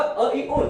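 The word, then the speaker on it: अइउण्: जैसा कि अ इ उण सूत्र का उच्चारण होगा अ इ उण, इसमें णकार का ण ऐसा उच्चारण नहीं होगा, किंतु ण इतना ही उच्चारण होगा। यथा अ इ उण रुल रुक ए ओम, ना कि अ इ उण रुल रुक ए ओम इत्यादि।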